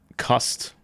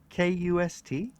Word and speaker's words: Kast: Kast. Kust? No, Kast. Kast. Oh, The vowels are okay, yeah. short and sharp.